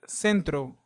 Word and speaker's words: centro: the one in state another example is the word Centro Centro Centro means Center and notice how the vowel e is after the C so let's see is followed by the vowel e so it sounds Central as in state now let's see some